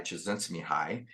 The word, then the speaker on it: Csikszentmihalyi: It was hypothesized, kind of theorized by psychologist Mihai Csikszentmihalyi.